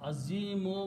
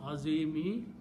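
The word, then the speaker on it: عظيم: So azimu will become azimi because it is fadli. These rules keep coming back and forth. So when we stop, we don't pronounce azimi, we pronounce azim.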